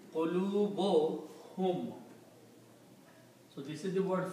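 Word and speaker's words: قُلُوبُهُمْ: So when we combine these two words, qulubun and hum, they will be pronounced qulubuhum. We do not pronounce two dhammas here. Instead we combine these and pronounce qulubuhum.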